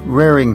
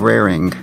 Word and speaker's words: rarin': This idiom is usually always pronounced rarin instead of raring.